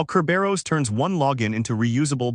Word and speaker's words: Kerberos: Today, we're unpacking Kerberos, pronounced Kerberos, the ticket-based network authentication protocol that still powers Active Directory logon across most enterprise Windows environments.